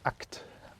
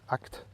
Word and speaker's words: ACT: ACT, ça se lit pas ac s'écrit acé mais ça se lit acte parce que évidemment c'est agir acte puisque c'est thérapie d'acceptation